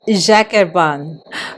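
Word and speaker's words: Jacques Herbin: is from France and it's Jacerban please native French speakers. I hope that I'm not massacring your language, but according to Google Translate is Jacerban.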